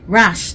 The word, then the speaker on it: Rasche: Rasche, thank you.